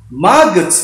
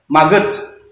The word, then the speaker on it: maggot: Maggots ya, ingat pronunciation-nya maggot, bukan maggots ya, harus agak lama dikit.